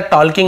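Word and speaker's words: talking: यानी बात करते हुए, एल साइलेंट था, टॉकिंग नहीं पढ़ेंगे, केवल टॉकिंग पढ़ेंगे, बात करते हुए सुना।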